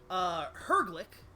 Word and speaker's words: Herglic: You have the literal response to that, which is this large, hulking, Herglick. Yes, good. I pronounced that right without having looked at the, without having...